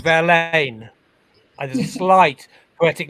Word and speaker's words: Verlaine: in the english um it's uh rain rhymes with verlaine and there's a slight